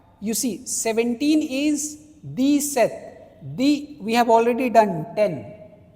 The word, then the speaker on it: sept: You see 17 is the set, we have already done 10. So 10 plus 7, 7 is here, S-E-P-T, set.